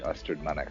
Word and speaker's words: Ystrad Mynach: Yscrad Mynch, Ystrad Mynach.